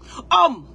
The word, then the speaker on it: homme: Homme, tu entends homme. Ça commence à être H. Mais ça, on ne prononce pas.